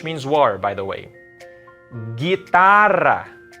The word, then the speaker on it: guitarra: Guitarra. It's not guitarra, even though there's a U there. There's no diaresis. So it's only guitarra.